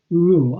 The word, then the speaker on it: Reuel: stands for John Ronald Reuel I pretty much how you pronounce that rule re u e L John Ronald Reuel right